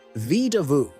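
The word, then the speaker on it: Vedauwoo: Let's start with Vidauwu, pronounced Vidauwu.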